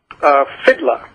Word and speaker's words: Fiddler: Is it Fiddler or Fiedler? Fiddler. Paul and I pronounce it.